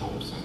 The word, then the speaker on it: Robeson: And I'm hoping that in the museum, in relationship to Paul Robeson, by the way, and it is pronounced Robeson, that things will be brought up about Harry